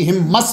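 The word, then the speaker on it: Homs: 30 अप्रैल को शहर हिम्स में, इसको हिम्स भी हिम्मस भी इसके मुख्तलिफ प्रोनाउंसिएशन है, वहां तशरीफ ले गए।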